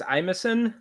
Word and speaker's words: Imison: I think it's the way I read it, I think it's Imison. Imison.